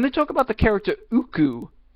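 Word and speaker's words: Ooccoo: talk about the character Uku, they call her Okoko. They couldn't pronounce a character's name right, and there is no annotation or correction.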